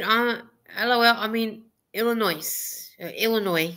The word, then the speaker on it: Illinois: LOL I'm in Illinois Illinois because you don't pronounce the S and to me I pronounce the yes even though that you guys some people do on some people do Illinois Illinois and guys Illinois